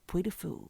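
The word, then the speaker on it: Puy du Fou: It's called Puy de Fou.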